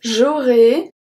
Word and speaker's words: j'aurai: So j'aurai and vous aurez are pronounced exactly the same. So because AI at the end make the sound E, and then EZ at the end make the sound E as well.